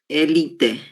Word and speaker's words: elite: Elite. Isso, exatamente. Elite, elite. Né? Temos aí a sílaba tônica li, certo?